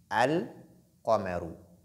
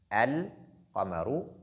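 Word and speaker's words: القمر: Exemple, quand je dis al-Qamaru, al-Qamaru, vous entendez Lam, al-Qamaru. La lettre Lam, elle est lue. La lettre Qaf aussi, elle est lue. Donc, les deux, et la prononciation, elle est distincte.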